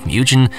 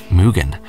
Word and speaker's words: Mugen: tend to pronounce it mujin and I did to you in the past but it's actually a Japanese word meaning infinite and is correctly pronounced Mugen well - my horrible